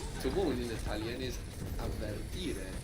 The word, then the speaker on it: avvertire: To warn in Italian is avvertire. Two V's. Avvertire.